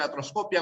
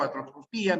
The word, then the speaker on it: artroscopia: También para la terminación escopia, con tilde o sin tilde, puede ser artroscopia o artroscopía, microscopia o microscopía, sin excepción, porque básicamente son palabras técnicas, ¿no?